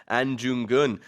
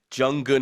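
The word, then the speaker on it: Ahn Jung-geun: an independence fighter and I do apologize I pronounced his name jungun at the beginning I didn't check the Korean spelling so my apologies for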